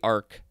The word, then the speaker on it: arch: So this is arch as a prefix, probably arc, pronounced arc in this case.